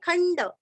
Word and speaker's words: खंड: सुधन्वा सुरस्व धन्वा सुधन्वा खंड खंड जैसे चंडा मुंड वैसे यहाँ पे खंड।